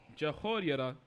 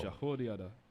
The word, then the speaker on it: Jehoiada: These things did Benaiah, the son of Jehoiada, and had the name among the 3 mighties.